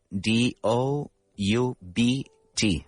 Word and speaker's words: doubt: Ah, it's important the pronunciation because people always say doubt. Yes, that is right. How do we spell that? We spell it d o u b t, but we don't say the b.